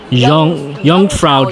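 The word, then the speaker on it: Jungfrau: europe right there called young frau junk no j's are pronounced as wise and w's are pronounced as bees so young frauk melissa's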